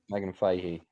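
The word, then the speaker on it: Megan Fahy: Um I had just I had just seen uh how do you pronounce her name? Megan Fehee. Did I say that right, Lance? Yeah, Megan Fehee.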